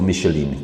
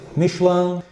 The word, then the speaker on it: Michelin: you are pronouncing right Michelin, because I spent some time in France, yes. I have to say, whereas other people have a tendency to say Michelin.